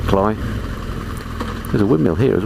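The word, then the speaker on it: Cley: sometimes people call it clay CLE e y it's but uh I'm pretty sure the locals pronounce it cly there's a windmill here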